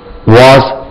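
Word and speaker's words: was: இஸ் ஆர் வாஸ் வர் இதுவும் வாஸ் z தான் உச்சரிக்கணும் வாஸ் இது இப்படி உச்சரிக்கணும்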